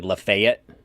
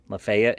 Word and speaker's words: Lafayette: going I'm going to it's spelled Lafayette but it's I guess apparently lefet lefet and then really leet yeah really I never knew